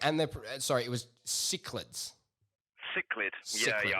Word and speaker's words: cichlid: And they're, sorry, it was Cichlids. Cichlid. Cichlid. Yeah, I know it's spelled with a C, but it's cichlid.